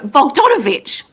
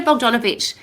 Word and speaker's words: Bogdanovich: think about it i'll say incorrectly for donna vogdavich um i need to say it lots of times so i say it correctly but peter bogdanovich is actually a world famous movie director and